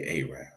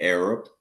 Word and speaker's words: Arab: people that walk around instead of saying Arab I used to say aab then I learned it was